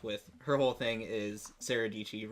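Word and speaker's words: Sarah Dietschy: she came up with her whole thing is Sarah DT rhymes with PG because like her last name is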